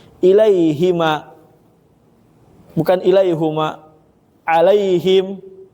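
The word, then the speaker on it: عليهم: Alaihim bukan alaihum. Alfatihah kan giriril magdubi alaihim kan ada yang baca alaihum.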